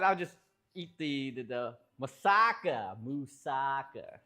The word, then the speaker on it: moussaka: Uh, otherwise, I'll just eat the the musaka. Musaka, not musuka, musaka.